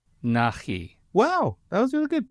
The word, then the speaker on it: Nachi: Please pronounce it correctly for me. Nachi. Nachi.